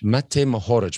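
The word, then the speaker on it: Matej Mohorič: How do we even pronounce that? Mate Mohoric. Mate Mohoric.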